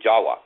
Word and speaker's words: Jawa: And the other name is called Java, or actually Jawa. The actual Dravidian name is spelled Java, but the V is pronounced as a W. And even today, they spell it Jawa and call it Jawa over in Bahasa, Indonesia.